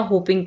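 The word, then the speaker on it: whooping: हपिंग काफ हपिंग काफ यहां पर डब्लू जो है यह साइलेंट होगा इसको पढ़ा जाएगा हपिंग काफ ठीक है काली खांसी नेक्स्ट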